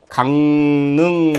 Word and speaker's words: 강릉: 발음이 강릉하고 릉으로 날 것 같은데요. 근데 이게 실질적으로는 강릉하고 니은으로 난다는 거죠.